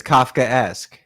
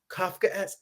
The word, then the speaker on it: Kafkaesque: How did I do pronouncing it? You were good. It's Kafkaesque. Kafkaesque.